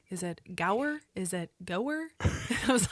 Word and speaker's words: Gower: guest on today and his name is Brian go I hope I did not completely like just